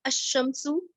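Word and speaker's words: الشمس: And in Huruful Kamariya, we pronounce Lam, like Ash-Shamsu. Lam is silent here.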